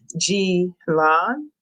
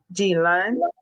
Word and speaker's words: Ghislaine: So it says something along the lines of Ghislaine, Jocelyn. That's what I'm going with here. Ghislaine Maxwell.